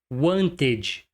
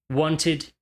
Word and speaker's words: wanted: Esse E não é pronunciado como um E. Esse é um erro clássico. Needed, wanted, waited. Não se pronuncia o E. Needed, wanted, waited.